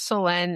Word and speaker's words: Selene: And I love selenite because it's actually pronouncing my name right, like selenite, because it doesn't have that extra E in it. So it's Selenite.